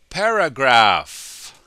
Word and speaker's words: paragraph: Paragraph. Remember, the PH sounds like an F, just like alphabet earlier.